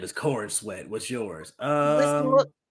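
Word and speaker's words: Corenswet: corn sweat I can't I really hope that's not how you say his name no no no no no no well no that kind of does look kind of like his name David Corin sweat yep sure is um my name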